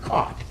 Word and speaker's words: caught: I mean, how do you sound out the word caught? I mean, think about it, silent letters, these are like sneaky letters. GH, where does the GH come in caught?